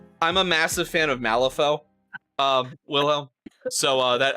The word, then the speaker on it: Malifaux: Yeah, I'm a massive fan of Malifaux, Wilhelm. So that I know the X is silent when you do French because Malifaux.